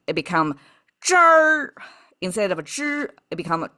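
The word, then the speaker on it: 支儿: But if they add a at the end, that means not only you pronounce zhi, but you have to curl the tongue at the very end. It become zher instead of zhi, it become zher.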